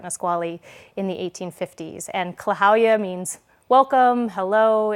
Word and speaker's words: Klahowya: It is pronounced very phonetically. So Klahowya is a greeting, sort